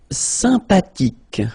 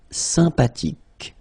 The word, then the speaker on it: sympathique: Sympathique. Remember the H is not pronounced. Sympathique.